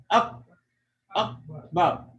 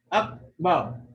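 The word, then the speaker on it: أكبر: So if you'll notice, the sound will kind of die off once you try to pronounce it. Wala dhikrullahi, akbar, akbar, up, like it closes off. Up, bow. So you can't carry it up. It stops. Up.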